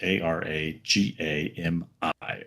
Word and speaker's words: Aragami: Uh, and just in case I'm pronouncing that incorrectly, it is A R A G A M I.